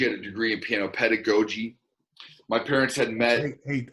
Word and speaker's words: pedagogy: a degree in piano pedagogy my parents had met hey austin shook knows how to pronounce pedagogy write that down that's pedagogy and she was from